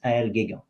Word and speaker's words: Aël Guégan: Sorry, my name is a bit hard to pronounce. And you maybe see the spelling in the name of the episode, but it's Aël Guégan.